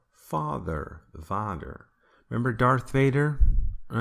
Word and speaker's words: Vader: alert Star Wars Vader Vader is Dutch for father actually people in America think it's German for father but she's not true in Germany so fought that but Vader spelled like this is Dutch so V is also